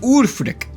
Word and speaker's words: Ulfric: It's pronounced Ulfric.